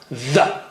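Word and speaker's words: ذ: Here it is with a stronger sound. The. Okay? Take just a millimeter out. Don't take big part of your tongue out.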